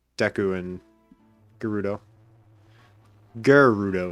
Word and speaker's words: Gerudo: it right deku and gerudo i always say deku and gerudo garrudo is what i say not gayrudo it's deku deku deku